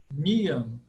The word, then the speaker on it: Niyama: Segundo componente, Niyama. Proparoxítona, Niyama.